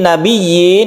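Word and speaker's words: نبيين: Tapi yang perlu diingat ya, kita tasydidkan dulu ya-nya, kemudian kita panjangkan ya-nya 1 alif sebagai ya, harus jelas ya-nya. Minan nabiyyina was.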